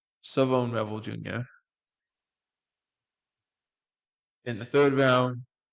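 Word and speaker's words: Shavon Revel: Sioone Sone Revel, excuse me, Sone Rebel, it's pronounced Sone Rebel Jr.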